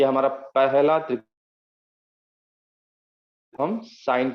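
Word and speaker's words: sine: हाँ, तो ये इसका उच्चारण भी हम करेंगे साइन, सिन नहीं करेंगे उसको, साइन।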